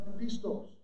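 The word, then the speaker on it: πιστός: You know, in the Greek, faithful is pronounced pistos.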